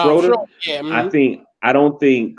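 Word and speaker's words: Schröder: Schmoeder? How you pronounce his name? Did I say it right? Yeah, Schroeder.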